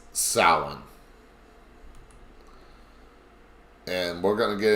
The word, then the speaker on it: Samhain: Now, a lot of people pronounce that Samhain. That's the wrong pronunciation. It's Samhain.